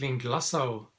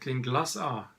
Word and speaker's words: Glenglassaugh: the Glen glossa evolution I always thought it was link la so but then the guys at the distillery said now you pronounce it clean glass R so this is the